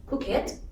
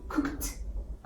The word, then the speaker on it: cooked: Yes, we shouldn't say like cook it. We should say cooked.